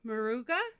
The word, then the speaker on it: Maruga: If I pronounce it wrong, correct me. But A.L. Maruga.